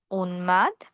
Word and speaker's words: উন্মাদ: গ, ঙ, ট, ন, ন, ম, ল। এই বর্ণগুলোর সাথে ম উচ্চারণ বহাল থাকে।